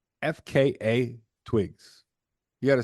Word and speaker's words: FKA twigs: is this bitch's name FK Twigs that's why once he you I looked it up it's actually pronounced FKA twigs you got a spell you got to say all the letters which is there there's